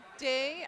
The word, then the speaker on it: Dei: So that brings uh team day up to six over team Norqu and team uh one and they are starting their success pronounced D. Oh D, not day.